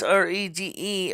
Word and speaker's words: rede: that's spelled R-E-A, that's R-E-D-E, or read, ready, R-E-D-E, or, some ways it's pronounced reed, R-E-E-D, like the piece in the flute, or a clarinet. And some people say it's rede, R-E-D-E.